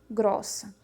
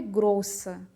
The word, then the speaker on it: grossa: Grossa. E já traz o O com acento agudo, que é aquele som aberto, para mostrar para a gente a pronúncia do feminino. Não é grossa, é grossa, tá?